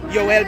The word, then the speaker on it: Yoel: I'm like I said, I'm Joel. Like the way you say my name in Hebrew, is Yoel, as you know.